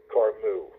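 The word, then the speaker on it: Camus: it's a man's name I think it's pronounced car mu he's from France for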